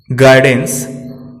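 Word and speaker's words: guidance: यू तब silent रहता है जब यह जी के बाद और वॉवेल के पहले आता है। हम देख सकते हैं निम्न शब्दों में गेस, गाइडेंस, गिटार, गार्ड, इन सभी शब्दों में यू साइलेंट है।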